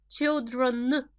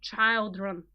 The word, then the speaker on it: children: child 1 child 2 children be careful here a child two children not child room as people sometimes pronounce it or a woman for